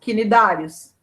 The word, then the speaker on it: Cnidários: Cnidários. Pronúncia. Quinidários. Cnidários.